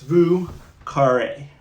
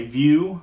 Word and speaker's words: Vieux Carré: It's Vieux Carré. Vieux. I used to say view, like the view out the window, but I think it's really Vieux.